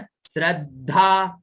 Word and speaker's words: श्रद्धा: अब देखिए श्र द में ध की मात्रा और आ की मात्रा, उच्चारण श्रद्धा।